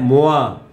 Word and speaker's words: moi: هي اي ايوه يبقى موا. هنا الاو والاي تنطق ايه وا وا زي كلمه توا كده بواسون. فهنا موا جيم مونبير.